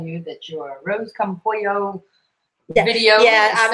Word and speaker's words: pollo: Manna Delight Says to tell you that your Rose Come Pollo video. Yeah, I'm sounds sorry. Wonderful. We said it wrong. We said it's pollo, and I said polo because it's spelled P-O-L-L-A.